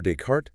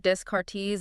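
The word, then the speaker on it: Descartes: You generally don't pronounce the final consonant.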